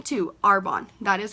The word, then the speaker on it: Arbonne: actually that's how you say the name to our bond that is how you pronounce it a lot of people I get